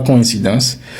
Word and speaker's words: coïncidence: Ce mot-là, si tu dis coïncidence, tu es officiellement en train de dire quelque chose d'autre. Ce n'est pas coïncidence. C'est parce qu'on envie metter ça làedans. Mais ce n'est pas coïncidence. Le mot se prononce coïncidence.